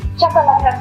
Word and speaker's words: Chakalaka: Okay, so Grace is going to be preparing Chakalaka Chakalaka from South Africa. Wow. Okay, there's anything I like about it. I think I like the fact that it rhymes with the country as well. Chakalaka from South Africa.